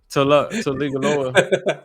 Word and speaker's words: Tagovailoa: Tagovailoa.